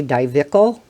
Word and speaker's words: Dyvicl: a number of other i'm not sure if this is how it's pronounced i say divical y v i c l products in the past